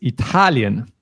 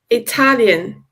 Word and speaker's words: Italian: then we have Italian Italian yes the stress here is really on the second syllable you don't want to say Italian or Italian or something like that it's Italian Italian and in English that's ital so yeah the stress is